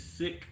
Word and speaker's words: SIK: Like this year, we got these sick broadheads, SIK is how they spell it.